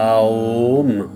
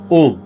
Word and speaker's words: ॐ: पहले अ फिर उ आ ओम ओम तो यह वाइब्रेशन हमारे शरीर में अलग-अलग जगह रेजोनेंस करते हैं।